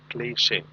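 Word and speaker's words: cliché: Please mark the pronunciation of the word CLICHE, and then there is an accent on top of E. It is pronounced as cliche.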